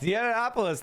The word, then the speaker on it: Yiannopoulos: Not myopolis. Sorry. Uh uh. It's Yiannopoulos. That's how you say it, right?